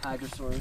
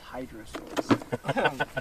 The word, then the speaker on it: Hadrosaurs: Hadrosaurs. Yeah. I mean, one pet peeve that I have is that my dad pronounces them as hydrosaurs. No, lizards. they're not water.